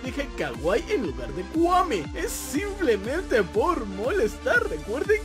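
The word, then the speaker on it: kwami: Por cierto, antes que se me olvide, sé que se pronuncia Kuami, no Kawaii.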